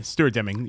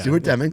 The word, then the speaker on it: Stuart Deming: Yeah, Stuart Deming. Yeah, Stuart Deming.